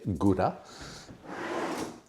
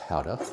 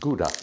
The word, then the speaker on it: Gouda: And then I have some royal grand howa. Some people say gura. It is pronounced howa. I know it's pronounced howa because someone well a Danish person corrected me when I said gouda.